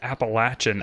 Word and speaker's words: Appalachian: that's probably totally wrong um but it is Appalachian I I have not heard anybody that goes